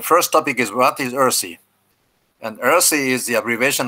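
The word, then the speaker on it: URSI: as i said uh you pronounce this one earthy you know earthy is the uh pronunciation of this word and the role of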